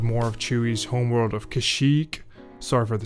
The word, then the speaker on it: Kashyyyk: And I think it's pronounced Kashyyyk.